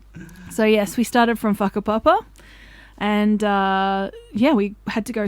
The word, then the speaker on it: Whakapapa: I'd like to preface this with a WH in Māori is an F phonetically, so it is called whakapapa, which I didn't know until halfway through the hike and someone had told me.